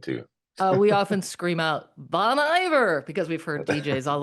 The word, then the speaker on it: Bon Iver: Bon Iver. It's We okay. Some people say Bon Iver or call me Mr. Bon. That's all good too. we often scream out Bon Iver because we've heard DJs